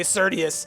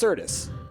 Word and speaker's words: Certus: Every time you say Cius versus, oh, hey, Price, by the way, don't know if you knew this, but it's actually pronounced Certis, right?"